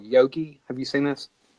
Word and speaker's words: Yogi: got at GenCon called yogi have you seen this how do you say it again yogi it's like yeah it's like yoga but it's Y o GI okay like Yogi Bear yeah but like yogi